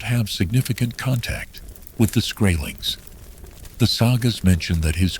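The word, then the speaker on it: Skrælings: The Norse called these people scrailings, which is pronounced scrailings.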